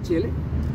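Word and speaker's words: Tjele: otros fragmentos como el fragmento de chele se escribe tj l chele y el fragmento del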